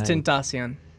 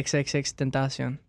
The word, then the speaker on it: XXXTentacion: It's Tentacion. Tentacion. Something, dude. I don't even know. It actually means unknown. Temptation. Unknown temptation. Yeah, that's what it means. Yeah, XXXTentacion.